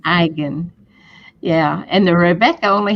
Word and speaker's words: Eigen: Yes, And it's German, and the E is silent. So it's pronounced Eigen. Eigen.